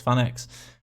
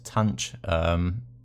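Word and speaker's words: tanh: Again, a few different ways you can pronounce this. I call this fan x, but you can call this tanch. Again, just which way you kind of learned this.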